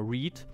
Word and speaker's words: read: lieblingsbeispiele ist d mal read read red red also lesen gelesen und und so weiter was dann aber gleich exakt gleich geschrieben wird r e a d aber anders ausgesprochen wird was eigentlich immer ein